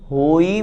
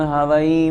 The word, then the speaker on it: होई: साथ में अंत में परमम होई मंगलम, हवई मंगलम नहीं। बहुत से लोग परमम हवई मंगलम इस तरह से बोलते हैं, अशुद्ध उच्चारण हो जाता है। हवई नहीं लिखा, होई।